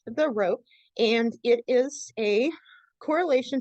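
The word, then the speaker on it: rho: I know it'll be useful um this is pronounced the rope and it is a correlation strength between two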